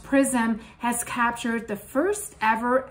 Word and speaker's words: XRISM: So according to a new report, the telescope, I've mentioned that briefly in my last video, it's called XRISM, it's pronounced PRISM, has captured the first ever X-ray image of 3I Atlas.